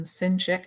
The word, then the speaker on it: Sinchik: can speak uh sincerely like the sin sick soul um so alan is